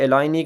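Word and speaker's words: Illinois: ठीक है, एलाइनी के अंदर ये जो एस है ये साइलेंट है।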